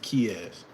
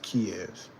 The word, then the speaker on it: Kyz: for kicks by kyz it's like Diaz but it's the K instead of Diaz kyz that's the best way